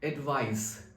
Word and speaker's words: advice: अब इसको हम प्रोनाउंस करते हैं एडवाइस, एडवाइस, और ये हमारा अनकाउंटेबल नाउन है.